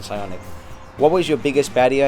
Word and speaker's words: Psionic: I think the P is silent in Psionic.